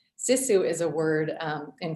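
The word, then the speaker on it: sisu: she loved the word cesu can you tell us about that and I'm sorry if I mispronounced it no that no that's perfect um sissu is a word um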